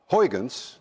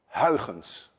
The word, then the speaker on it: Huygens: suggested by my countryman Huygens, which actually should be pronounced Huygens. None of you can say Huygens. And if any one of you can say Huygens, there is a 99.9% chance that you're Dutch.